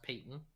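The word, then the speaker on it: Payton: one i believe it's it looks like patent but it's pronounced peyton just as an fyi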